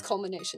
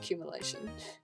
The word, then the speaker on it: culmination: Culmination. That's how you say it. When I played Undertale, I said that wrong every single time. It's culmination, not cumulation. It doesn't even look like cumulation.